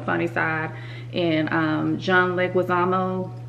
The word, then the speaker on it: Leguizamo: so on the funny side and um John Leguizamo like that's how you say his name he's